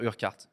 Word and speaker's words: Urquhart: réglé ça va mais son nom de famille c'est ça s'écrit your hat on va dire urquhart vous n'allez pas être loués avec moi on va dire fergus burkhardt un mât fergus urquhart il a dit on